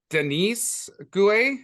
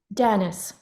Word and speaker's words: Dennis: like uh Jeff Barnaby is it Denise how do you say your name Dennis okay and then obviously uh